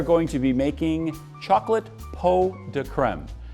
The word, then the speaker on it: pot de crème: Today we are going to be making chocolate pot de crème. It's spelled pots de crème, but it's actually pronounced pot de crème.